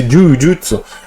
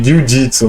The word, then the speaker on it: Jujutsu: Esse Jujutsu é a pronúncia correta de Jiu-Jitsu, né? Jiu-Jitsu, que a gente fala aqui no Brasil.